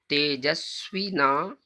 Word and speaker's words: तेजस्विना: सह वीर्यम करवा वहै तेजस्विना। अब यहाँ पर क्या करना है, तेजस्वी ना, ना को आप वी के साथ जोड़ना है, तेजस्वी के साथ जोड़ना है।